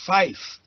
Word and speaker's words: five: Five is fife, because the V often is lost. If you just say five, it can be lost in background hash.